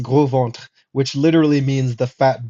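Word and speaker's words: Gros Ventre: this is just funny because or the the gross ventor as probably the Americans would say it but it's pronounced Grant which literally means the fat belly people um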